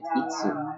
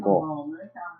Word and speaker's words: 五: This kanji means 5. It's itsu or go. There's no ik. It's just itsu.